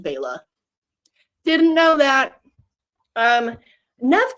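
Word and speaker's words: Bela: bellosi b b Lugosi I only learned when I did my Frankenstein Deep dive that it was actually pronounced Baya didn't know that um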